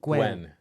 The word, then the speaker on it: Nguyen: vietnam with his family in 1975 oh it's gwen you pronounced his last name gwen yeah okay yeah yeah yeah i always liked